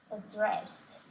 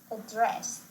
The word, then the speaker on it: address: Some words, particularly those of French origin, are emphasized differently in American English, with the last syllable stress in American English and the first syllable stress in British English.